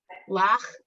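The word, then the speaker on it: לה: At the end of a word Oh. is silent. Oh, so it's just la.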